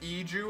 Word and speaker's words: Iju: Piano by Maureen B says it's pronounced Iju, and I trust them with my life.